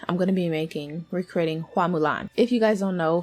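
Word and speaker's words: 花木兰: The 1998 Disney film, which is the one I've seen, the Hua pronunciation from Mandarin is changed to the Cantonese pronunciation Fa Mulan. It's said specifically for American audiences, basically. It's actually Hua Mulan.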